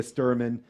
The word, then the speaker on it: Stuerman: our second guest today uh drew and leah sturman is that how you pronounce it yes okay uh incredible company uh